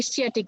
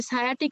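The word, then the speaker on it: sciatic: ওটা অনেকে কিন্তু উচ্চারণ করে স্চিয়াটিক নার্ভ, হ্যাঁ। তো এই যে সায়াটিক নার্ভ যেটা, সেটা কিন্তু লেগে থাকে, এবং যেটা তোমার ব্রাকিয়াল নার্ভ সেটা কিন্তু উইং এ থাকে।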